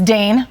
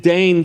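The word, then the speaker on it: Dain: Did Dne probably spelled D A I N. Oh, wow. very which rhymes with drain which is what we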